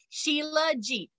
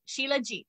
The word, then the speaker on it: shilajit: it up it's called it's actually how you pronounce it sheila jeet shilajit so shilajit is actually